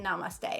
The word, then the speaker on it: namaste: Namaste, namaste, namaste, namaste, that's how you say it, namaste.